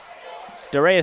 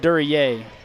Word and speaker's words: Duryea: Dorea seems to run off the tongue better, but I believe it's pronounced Duryea. So we'll try to get that figured out for you.